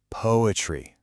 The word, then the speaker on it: PoAItry: And this brings us to the core idea of what we're doing here, poetry. Yep, it's pronounced exactly like poetry, but it's poetry seen through the illuminating power of AI.